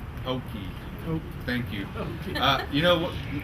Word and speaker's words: Hokeah: really just a spin image they don't say Hoke they say hokei hokei thank you uh you know I'm glad you